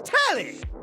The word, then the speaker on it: Telly: The name's Tally. Rhymes with Nelly.